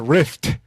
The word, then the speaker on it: rift: There was a riff, but it's a rift.